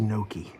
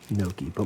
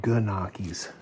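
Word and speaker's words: Gnocchi: This word, this is pronounced Noki. Noki. My mother is Irish and she always mispronounced it ganakis growing up.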